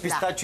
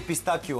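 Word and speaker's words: pistacchio: съм чове за ударенията като пистачо и пистакио аз а кое е вярното пистакио ста писта пистакио пистакио италианския пистакио е ама ние на български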